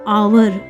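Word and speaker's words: hour: इसको पढ़ेंगे बच्चों HO, अभी ये ना H साइलेंट है, इसको आ पढ़ेंगे। वर पढ़ेंगे इसको आवर। आगे है हमारा EVE ईव, NI नी, और इंग इवनिंग।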